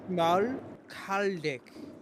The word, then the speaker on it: Schmalkaldic: It's the SCH Schmalkalden. It's just Schmal, right? Schmal. Like small, right? Yeah, But like put Schmal. Yeah. Schmalkaldic.